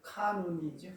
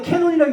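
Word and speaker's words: canon: 캐논이 아니라 카논이죠. 카논. 예, 근데 캐논이라고 읽어도 상관없어요. 캐논이라고. 캐논이라고 읽어요. 영어 사전 보면 캐논, 예, 캐논. 카논 이렇게 그러니까 카논도 있고 캐논도 같이 읽어요. 그러니까 뭐 그 영국식, 미국식 있으니까 카논, 캐논 이렇게 읽어요.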